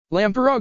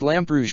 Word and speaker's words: Lamperouge: Lamparog Lelocher. It's pronounced Lamperouge Lelich, I correctly calmly.